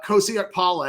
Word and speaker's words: Kosi Okpala: linebacker out of M Creek in Katy uh Kosak Paula. Am I saying that right, Jason? Yeah, you're exactly the way it's spelled.